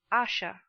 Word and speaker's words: Asher: Please pronounce Asha.